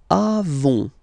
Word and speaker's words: avons: Then, nous avons, final s, not pronounced.